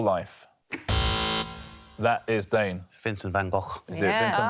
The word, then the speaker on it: van Gogh: Hashtag rhymes with lock. Hashtag living my best still life. That is Dane. Vincent van Gogh. Is it Vincent van Gogh?